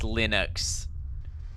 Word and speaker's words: Linux: Huawei I'm lus but damn it it is pronounced Linux okay it's dumbest Flash videos